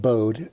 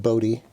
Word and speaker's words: Bode: No, it's not Bode. It's actually pronounced Bode. Look it up. Bode plot.